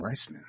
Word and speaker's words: Reisman: That's how you say his name, Reisman. Bubby.